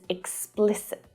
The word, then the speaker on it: explicit: There's a really tricky consonant cluster in there. Explicit. Explicit. So the stress there is on the second syllable, but all of the vowel sounds are short.